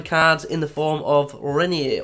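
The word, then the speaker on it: Reinier: in the form of renier or is it hennier because the brazilians sometimes pronounce an ah as a hitch see the run from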